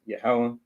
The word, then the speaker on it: Yahweh: Anytime you see Lord in all caps, you just pronounce it Yahweh.